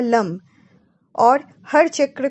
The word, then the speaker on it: लं: जैसे lump lump lump. जीभ को तालू से लगाकर ल वर्ण का उच्चारण करें और दोनों होठों को मिलाकर म वर्ण का उच्चारण लंबी समय तक करना है।